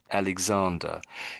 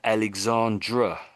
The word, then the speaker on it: Alexander: in particular um because when you're saying his name Alexander you're saying Alexandra you put like an a on the end of it like that would be a lady I would think I would think of that as a lady's name this is the